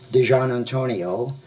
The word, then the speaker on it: DiGiannantonio: It's pronounced DiGiannantonio. D-I is like D-E-E. G-I-A-N-N is like John, and then Antonio.